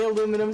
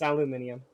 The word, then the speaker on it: aluminium: things that I'm like I'll say aluminum sometimes but in the back of my mind there's always that that part of me that's like that's wrong say it right but yeah it's it's aluminium and I guarantee my